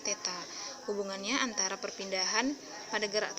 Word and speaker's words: theta: Jadi simbol seperti ini bacanya theta.